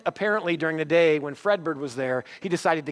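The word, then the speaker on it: Fredbird: wrong in first service I said Redbird it's Fred bird Fred bird was at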